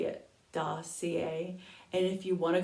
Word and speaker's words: Dossier: is dossier this is how you say it dossier and if you want to go to their